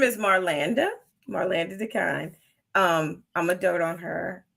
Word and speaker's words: Dekine: Marlanda Dekine.